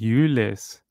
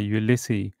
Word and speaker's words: Ulysses: I mean, His name is Ulysses, not Ulysses. It's spelled very similar to the president of the US, but what a poor doggy.